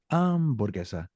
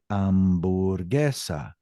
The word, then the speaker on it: hamburguesa: Now, if I said something like hamburguesa, that starts out with the sound ah, but I don't say hamburguesa. I say hamburguesa.